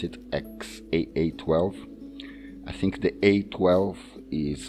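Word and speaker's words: X Æ A-12: That's how you pronounce it, XAA12.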